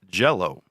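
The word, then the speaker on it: Jellÿ: change their name because jello was a copyrighted name yes it's spelled jelly green jelly it's spelled jelly but pronounced jell-o okay right speech so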